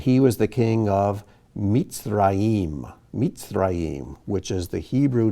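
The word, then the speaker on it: מצרים: And he was the king of Mitzrayim, Mitzrayim, which is the Hebrew name for Egypt.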